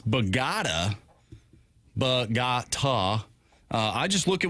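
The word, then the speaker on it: Bogotá: Apparently it's Bogota. Bogota. I just look at what the sheet says. The sheet says pronounce Bogota. Like Bohart, go fund me, and ta.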